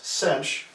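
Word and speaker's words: sinh: the the hyperbolic cosine the hyperbolic sign function pronounce cinch is e x - e - x/ 2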